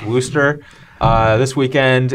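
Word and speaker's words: Worcester: pronounce it yeah it looks it looks like worshire but it's it's pronounced Wooster uh this weekend it's somewhere in Massachusetts and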